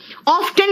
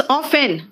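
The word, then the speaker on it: often: नहीं बेटा इट्स हेसन ऑफ्टन नहीं है इट्स ऑफेन हसल एंड बसल जो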